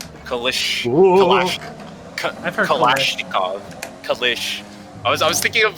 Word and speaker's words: Kalashnikov: Clue's last names are Kalishnikov and Glock, Kappa. That was a creative pronunciation of Kalashnikov. Kalashnikov.